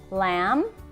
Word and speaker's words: lamb: it one more time lamb Krum num bomb and thumb what do you notice about MV so not only is the be silent it's at the end of the word it's not in the